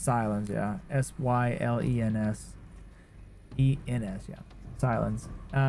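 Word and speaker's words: Sylens: I always call him Silas. It's not Silence though, it's Silence. Right? Silence. I think that's how you say his name. I usually call him Silence though. Or Silas. Look it up. It's Silence, yeah.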